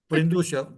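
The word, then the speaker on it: Brândușa: So Brindusa, sorry if I don't pronounce It's well your name. Brandusha Brindusha, that is from?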